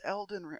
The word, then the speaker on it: Elden: pretty much nothing but Alden ring oh it's pronounced Elden okay I'm sorry wait